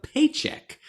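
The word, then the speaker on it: Pchajek: young man named Joshua paycheck which is spelled p-c-h-a-j-e-k but he said it's pronounced paycheck so I believe him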